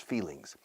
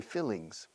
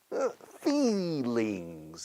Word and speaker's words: feelings: Estus in English because people don't pronounce the E correctly and they say fillings past this Felix imposters feelings okay feelings feelings you